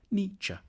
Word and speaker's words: Nietzsche: The first bit should sound like ni, the second like cha, Nietzsche.